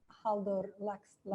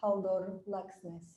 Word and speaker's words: Halldór Laxness: How do you pronounce it? Halldór Laxness. You have to. Sorry, Halldór Laxness, the International Literature Prize.